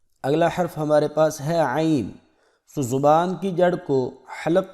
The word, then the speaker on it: عین: فرق نہیں کرتے، تو عین کو بھی حمزہ کی طرح ہی پڑھ دیتے ہیں، تو اس پر ذرا محنت کی ضرورت ہے اور اس کے تلفظ کو خوب اچھی طرح سمجھ لیں۔ آئیے میرے ساتھ مشق کریں، عین، حلق سے آواز نکالیں، عین۔ جی اگلا حرف ہمارے